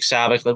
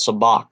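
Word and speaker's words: sabacc: a joke because um you know Han Solo says something like Saavik which is the way I was pronouncing it all my life until he says now it's actually called soo bahk I don't know oh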